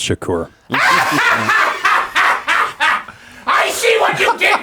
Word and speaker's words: Shakur: It's pronounced Shakur.